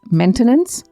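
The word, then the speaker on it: maintenance: 14th word is मेंटेनेंस यानी रख रखाव। प्रोनाउंसिएशन पर ध्यान दीजिएगा, स्पेलिंग में MAIN है बट मेंटेनेंस नहीं बोलते, मेंटेनेंस बोलते हैं, MEN वाला मेन प्रोनाउंसिएशन में।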